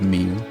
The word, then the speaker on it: Moo: you can pronounce Moo like Mew, the Pokemon. Because that's what Mew. Teach just did. He said Mew. So you can say Mew like the Pokemon if you want.